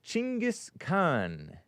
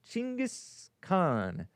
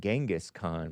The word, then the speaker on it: Genghis Khan: What was he pronounced? Chingis Khan. Chingis Khan. Hopefully that's not a bad word. It see sounds feels bad. I didn't know I everybody or I always in my head pronounce it Genghaskhan, but it's Jin.